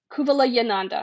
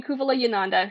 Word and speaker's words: Kuvalayananda: I always mispronounce this. I'm sorry. Kuvala Kuvalayananda. Excuse me. Swami Kuvalayananda, who was the guy who sort of rationalizes